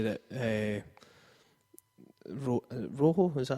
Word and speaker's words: Rojo: well um vanal did say that uh Ro Rojo is that how you pronounce it yeah um he Rojo speak English